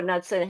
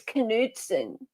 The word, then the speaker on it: Knudsen: Hey Samantha, I actually think with okay, so Samantha says I'm pretty sure Knudsen has a silent K, so it would be pronounced Nude Nudson. son. I think it's Knudsen. I think he actually does have a he says the K.